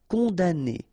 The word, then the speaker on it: condamner: envoyer chercher condamner pour remember we don't pronounce this m here condamner condam condamner pour servir à servir à se mettre en route.